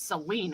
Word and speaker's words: Saline: like the county over saline county s-a-l-i-n-e it's celine according to the people who live there what kansas get your